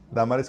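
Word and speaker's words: Dámaris: Entre ellos estaban Dioniso, que era el miembro del aerópago, y una mujer llamada Damaris y otros más. Damaris con acento en la primera A.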